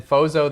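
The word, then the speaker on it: Frozo: And then Phozzo the clown, I'm not saying that right, breaks in and battles with Hercules. It's Frozzo, you're saying it right.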